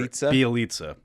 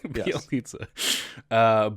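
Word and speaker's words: Bjelica: Bielitsa. When you actually write it, it's like, whoa, I can't believe that it's pronounced that way. Bielitsa.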